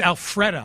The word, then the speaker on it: Alpharetta: Okay, so I pronounced that wrong. It's Alfreda. Huh? At least the guy I know pronounces it Alfreda.